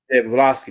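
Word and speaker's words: Blavatsky: Helen that was over the uh Madam blaski blaski that's how you say her name yeah yeah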